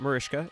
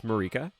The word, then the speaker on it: Marika: It's not Mariska, it's Marika. I was looking at the